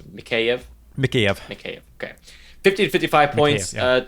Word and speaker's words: Mikheyev: is a rookie Ilya me chef I think eyes we learned that that's not how you say it right it's mikheyev Makia okay okay 1555